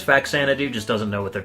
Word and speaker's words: Faxanadu: It's Faxanadu. The American version is Faxanadu, but apparently the Japanese version, or the way that you should pronounce the Japanese version, is Fazanadu with a Z.